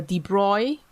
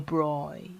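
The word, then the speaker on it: de Broglie: the ratio of the debris wavelength of the proton to the broad wavelength of the electron i pronounce it wrongly now it's debris the broad can even call it the broy the broad yeah the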